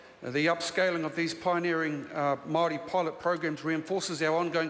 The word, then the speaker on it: Māori: Mr Speaker, with respect, next week is Māori Language Week, and my ear's a little bit sore with Māori. I'd ask the member to pronounce it properly as Māori.